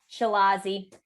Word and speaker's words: Chilazi: Chilazi. Chilazi. Oh, I love it. Perfect. It's easy. It sounds like a new type of skirt or something.